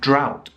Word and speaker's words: drought: the plow the ow sound of the o-u-g-h can be found in a couple of other words for example bow and drought so drought is a time when there is no rain for for a long a long period of time with no rain so the drought in africa caused a lot of problems for example so pronounced in the same way that owl plow drought bow okay